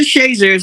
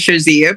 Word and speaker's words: Shazier: to this to mother shazier's history well mother shazers we call it here and some people pronounce this shazia but she we call the shazer she is